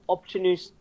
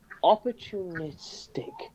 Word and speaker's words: opportunistic: unlike your little opportunist unlike you're opportunist opportunistic that's how you say the word opportunistic that's